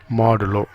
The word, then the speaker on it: modulo: இது பர்சன்டேஜ் கிடையாது, இது எப்படி ப்ரொனவுன்ஸ் பண்ணுன்னு கேட்டிங்கன்னா மாடுலோ.